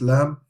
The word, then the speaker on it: Lam: Right, the next one is Lam, exactly the same as English. Lam, Lam, Lam. Just memorize how to say the letter. So it's not L, it's Lam.